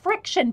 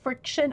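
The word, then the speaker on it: Frixion: are good too and it's r i x i o n friction i think that's how they pronounce it that's how i pronounce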